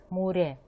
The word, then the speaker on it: 물에: гласной и читается уже как р, например, здесь, муре. Послушайте, пожалуйста, произношение и повторяйте.